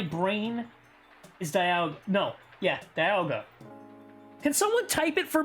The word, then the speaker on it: Dialga: I can say Dialga. Sen, that you've messed up my brain is Dialga. No. Yeah, Dialga.